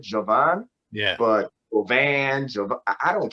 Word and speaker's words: Jovan: They were like, how do you pronounce your name? I'm like, I pronounce it Jovan.